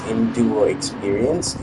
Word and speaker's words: EnduroXperience: So it's not EX experience, it's just X.